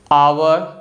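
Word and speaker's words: hour: ठीक है, और इंग्लिश लैंग्वेज में कुछ वर्ड्स ऐसे होते हैं जिसमें जो लेटर एच है ना, यह स्टार्टिंग में आता है और साइलेंट होता है, जैसे कि ऑनर, ऑनेस्ट, आवर। तो इन तीनों वर्ड्स में जो लेटर एच है ना स्टार्टिंग में आ रहा है और यह कोई साउंड नहीं बना रहा है, इसीलिए लेटर एच साइलेंट है।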